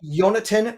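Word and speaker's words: Yonatan: Uh Yonatin. That's spelled Y O N A T A N. It's like Jonathan, but it's closer to the uh uh Hebrew pronunciation spelling.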